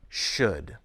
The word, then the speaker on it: should: spell a single sound the letter L near the end is silent should and sometimes two consonant